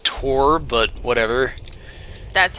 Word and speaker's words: Thor: film whatever also yeah Thor is pronounced Tor but whatever that's how